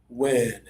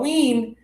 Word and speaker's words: win: I open a little extra, breathe more. Win. Win. JR, sounding really good. Win. Win. Not wean. Win. Win. Add extra air to say this one right.